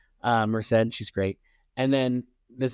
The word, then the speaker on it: Merced: Merced.